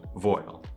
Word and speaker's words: voile: made of layers of voile. It's a French term, voile? That's correct. I looked up the pronunciation, voile.